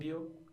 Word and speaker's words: cambio: That I actually never thought about this, but the pronunciation is going to be in this case on the first syllable. So Mm. cambio, cambi, cambia.